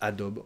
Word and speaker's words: Adobe: et donc c'est adobe on prononce adobe en français at elle dit en anglais oui prononcé les adobe nous on mange le à la fin elle est la